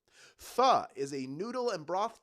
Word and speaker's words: pho: The pronunciation pho has led to some great business names like For Real, For Sure, and maybe there's one called For the Love of Vietnam in honor of its birthplace.